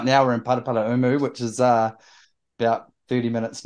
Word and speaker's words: Paraparaumu: So we're in Paraparaumu. That is the correct Māori pronunciation.